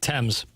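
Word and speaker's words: Tems: Tames. Tames. How do you spell that?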